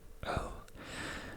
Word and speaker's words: øl: So as you can see, öl, there's a dash on the O, so it's the sound öl, which means beer.